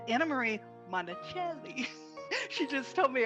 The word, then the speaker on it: Monachelli: Marie it's Anna Marie Monticelli he just told me I should pronounce it the Italian way I am delighted to have Anna Marie Monticelli here with us today